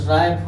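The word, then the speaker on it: write: जैसे देखिए डब्लू आर ओ एन जी का हो जाएगा रॉन्ग हो जाएगा, से राइट हो जाएगा, राइट हो जाएगा, रिस्ट हो जाएगा। एक्स वाई जेड साइलेंट नहीं होता है, एक्स वाई जेड साइलेंट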